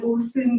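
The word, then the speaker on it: OSON: stored as something called OSIN, which is a binary format that was developed by Oracle. So does it rhyme with awesome? Sure.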